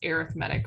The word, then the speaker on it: arithmetic: that arithmetic it's basically arithmetic but it's pronounced arithmetic when it's a sequence so same word just pronounced differently depending on the context any any questions on